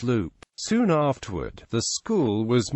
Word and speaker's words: Leupp: in Lup In 1902 the town's name is pronounced Loop soon afterward the school